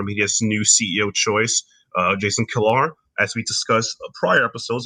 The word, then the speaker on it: Kilar: Jason Kilar. Jason is Kilar, and I don't want to say Jason Killer.